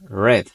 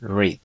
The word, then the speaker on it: read: En esta ocasión yo pronuncié este verbo de la siguiente forma, read. Esto es porque estamos usando este verbo en pasado. Sin embargo, si lo decimos en presente, tendremos que pronunciarlo de la siguiente forma, que sería read.